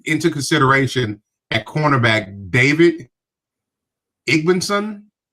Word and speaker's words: Igbinosun: No, you got to take it into consideration at cornerback David Igbenson. How do you say that? Is cornerback Igbinosun. Davison Igbinosun.